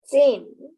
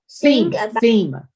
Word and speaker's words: theme: Zim. The Zim of a story is the main message. The author wants to tell the reader to find the Zen. Theme theme theme.